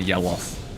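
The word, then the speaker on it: Yelough: Eye of Yellow, or Yelloth, or Yellow. There's a history of like Souls games having names that end with O-U-G-H and is pronounced Oth. Like Goth and Smoth and maybe that one, Yelloth.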